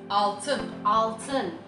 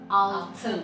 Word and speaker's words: altın: For pronunciation. Yes. Next we have golden. Altın. Yes. Altın.